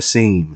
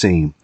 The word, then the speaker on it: Asheim: like I I would say it a little more I guess uh Jewish sounding like the Heim lick maneuver you know but it's uh Steve aim Steve aim uh I have trouble